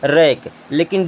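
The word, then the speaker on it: wrinkle: है अब आर आई एन के एल ई इसे क्या पढ़ेंगे रिंकल क्या पढ़ेंगे रिंकल क्योंकि यहां पर डब्लू साइलेंट है बच्चों आज के लिए बस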